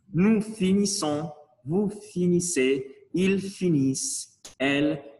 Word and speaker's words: finissons: Nous finissons, comme c'est double S, on va prononcer S. C'est pas Z, sinon S. Nous finissons, vous finissez, ils finissent, elles finissent.